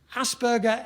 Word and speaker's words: Asperger: some conference through said asger it rhymes with hamburger she would say and